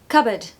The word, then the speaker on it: cupboard: it's covered but yeah there's no P so it's just cupboard cupboard guess what that's all